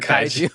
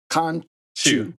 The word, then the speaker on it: Khonshu: Wait, I gotta correct because you keep calling her Kaiju. Because we just talked about what's his name? Kanju. Okay, my bad. Khonshu.